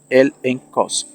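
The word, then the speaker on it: ἔλεγχος: hebreos capítulo 11 es la palabra griega el exos pronunciado el en Cos que también significa prueba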